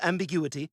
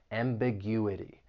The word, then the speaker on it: ambiguity: racial ambiguity and family the word has has five syllables and if you want to learn something about syllable stress when the word ends in i t y the stress is going to be on the third to last syllable that you ambiguity ambiguity